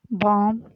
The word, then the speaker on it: balm: और उससे आगे बॉम, BALM, एल साइलेंट है इसमें, बॉम इसको पढ़ेंगे।